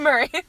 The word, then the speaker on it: miry: How do you say that word? Miry? I think it's miry clay. Murray? But Murray Murray? sounds Who's more Murray? fun. It's Murray.